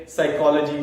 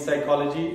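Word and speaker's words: psychology: silent नहीं होते हैं फॉर एग्जांपल जैसे कि बात की मैंने साइकोलॉजी साइकोलॉजी स्टार्ट होती है पी से निमोनिया स्टार्ट होता है पी से बट यहां पर जो है साइलेंट है तो ये आपको सीखने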